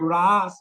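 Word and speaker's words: rāsa: Yes, this word Ras with a long A.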